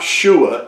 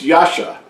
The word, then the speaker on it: Yasha: It's not Shua, it's Yasha.